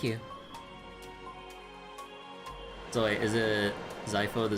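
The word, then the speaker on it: Xipha: So wait, is it Zypho the Z? No, I mean like, I mean it's with an X, but pronounced like a Z pretty much.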